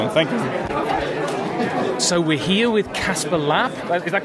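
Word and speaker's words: Kasper Lapp: So we're here with Casper Lapp. Is that correct pronunciation?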